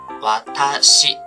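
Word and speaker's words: わたし: 这个单词读作一个わたし瓦塔西，大家要注意哦。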